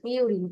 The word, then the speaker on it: purine: জি জি জি, এখানে বলেছে, আমি একটু আগে বলেছিলাম পিউরিন অ্যান্ড পাইরিমিডিন, আমরা বাংলায় ভাবে উচ্চারণ করি পিউরিন, পি ইউ আর আই এন, পিউরিন অ্যান্ড পাইরিন, purine, পিউরিন অ্যান্ড পাইরিমিডিন, pyrimidine, অ্যান্ড পাইরিমিডিন।